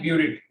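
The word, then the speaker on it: burette: ठीक है, इसको कहते हैं ब्यूरिट। क्या कहते हैं बेटा जी इसको, ब्यूरिट। डबल टी होगा या टी होगा, स्पेलिंग पे मत जाना। कहते तो इसको ब्यूरिट ही है, कहते तो इसको ब्यूरिट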